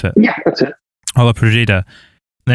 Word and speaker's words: Olla Podrida: How do you pronounce it? Yeah, that's it. Olla Podrida.